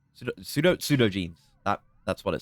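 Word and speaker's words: pseudogenes: result, genes that would normally have stayed sud sudogyny pseudo pseudo jeans that that's what it says.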